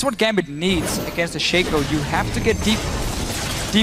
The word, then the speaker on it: Shaco: It's pronounced Shaco, not Shaco.